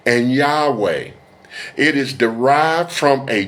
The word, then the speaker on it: Yahweh: seeking to understand how Yahweh is pronounced. Furthermore, the pronunciation Yahwh or Yahwa does not carry any meaning in Hebrew.